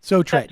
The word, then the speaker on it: Sotret: But let's talk about, I guess, Sortret or Sotret. Am I pronouncing that right? Sotret.